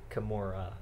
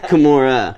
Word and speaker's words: Kimura: can give you uh kimora okay kimora they can't even say it right yeah it's not a mexican word it's japanese keep them keep in